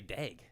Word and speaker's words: Daigle: Wasn't it like Jagel or Daigle? Well, see, it's spelled Daigle, but I remember growing up, all the announcers would just say Dag.